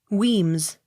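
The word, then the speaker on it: Wemyss: d e not sounded w e m y s s weems w i l l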